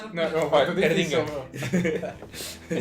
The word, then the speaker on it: Erdinger: A Erdinger. É Mardinger? Erdinger. Não, Erdinger. Sim, é Como é que se escreve Merdinger.